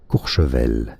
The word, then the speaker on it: Courchevel: In France, it is said as Courchevel.